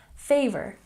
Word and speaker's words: favor: Favor, we stress the first syllable.